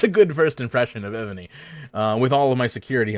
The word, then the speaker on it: Evony: It's with a V, EVONY for any of you not watching live. By the way, if I'm having a hard time possibly pronouncing that V there, so Evany does, or